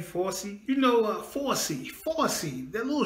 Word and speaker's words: Fauci: And I think to FAUCI, I think that's how you say his name, FAUCI.